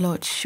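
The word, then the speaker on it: Łódź: you like well where was this your childhood in Poland which town in Lodge okay in Lodge which in Polish is pronounced w did I dream that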